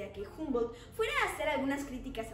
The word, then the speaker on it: Humboldt: prusiano Humboldt, que bueno, ni siquiera pronunciaban bien su nombre, dado que era Humboldt y no Humboldt.